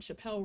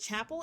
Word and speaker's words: Chappell: post for National Women's Day, where they showed Chappelle Roan, Miley Cyrus, and somebody else, and they also spelled Chappelle Roan's, or is it Chapel? I keep on saying Chappelle.